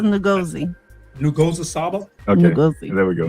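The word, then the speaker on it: Nguzo Saba: And I'm not saying even when I hear her pronounce it, I'm still struggling. Mm-hmm. But she says Ngozi. Ngozi Saba.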